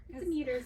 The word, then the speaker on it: Demeter: As a Greek person, how would you pronounce that? Demeter's fine.